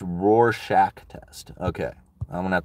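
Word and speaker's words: Rorschach: be me right you is pronounced Roar Shack test okay I'm gonna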